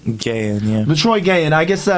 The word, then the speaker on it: Gayon: Gayon? Gayon, yeah.